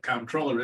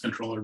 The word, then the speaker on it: comptroller: like comptroller and you'll hear people call it comptroller it's actually not is pronounced controller but it doesn't really matter anymore but anyway